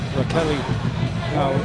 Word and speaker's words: Raquel: Raquel, they tell us she pronounces her first name.